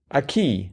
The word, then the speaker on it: Acqui: A key. Uh-huh. Oh, I see. Yes. That looks a whole lot like water in Latin, but apparently is not. It's pronounced a key.